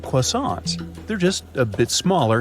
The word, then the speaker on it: croissant: yup, they got that croissant thing that most people can't pronounce right. Hey, did I nail it? Maybe put a little French honk on it.